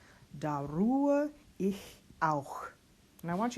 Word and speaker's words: Ruhe: Here we have our flipped R, ru. U before an H will be pronounced the closed U, oo. Then we don't pronounce this H in the middle of the word, and we just go right to the schwa. So we get Ruhe.